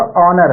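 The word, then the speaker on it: honour: अगला है हॉनर, नहीं है ये आपका ऑनर है। क्या है, ऑनर। ऑनर मतलब होता है सम्मान, ऑनर मतलब सम्मान। तो कहने का मतलब कि यहाँ पर भी अ हम बोले, एच को साइलेंट किए, एच को साइलेंट, एच को साइलेंट किए, क्लियर।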